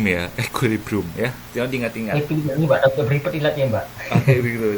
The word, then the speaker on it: equilibrium: latihan presentasi Oh keren banget Mas Gatot itu bacanya equekilibrium Ya equilibrium ya diingat-ingatakat mbak Oke begitu Jadi bacanya equilibrium